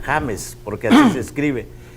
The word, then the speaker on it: James: que se llama james se escribe james pero todo el mundo lo pronuncia james y él dijo que él no se llamaba james él se llama james porque nos escribe y